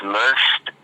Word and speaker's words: Luxt: Hey, my name is Luxst. I'm from Dallas, Texas, and I'm an R&B artist. My name is spelled Luxt, and it stands for Lust Undertakes Soul.